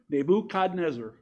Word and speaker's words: Nebuchadnezzar: with me because this is the way I pronounce it, is Nebuchadnezzar, the most powerful king on the earth at